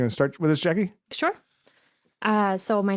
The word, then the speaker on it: Jacy: Cornerstone Family you want to start with us Jackie sure uh so my name is Jackie Carell my first name is spelled j a y so when everyone sees JC it's Jackie it's Jackie but you know my parents thought that would